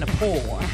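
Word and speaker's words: Gnapoor: I'm Kevin DePoor. The G is silent when I sneak in your door.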